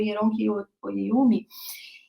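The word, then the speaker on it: Oyèrónkẹ́ Oyěwùmí: E aí eu quero indicar uma outra leitura para vocês, da Yoronke Oyeyumi, o nome dela é super difícil de pronunciar, mas é Yoronke Oyeyumi, e que ela fala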